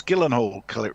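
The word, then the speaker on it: Gyllenhaal: pron pronounce I see I can't pronounce pronounce pronounce Gillen Hall correctly oh was that it yep hello and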